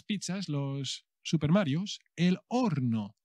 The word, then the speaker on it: horno: Los Super marios el horno cuidado que lleva la H que no se pronuncia en español eh el horno Ah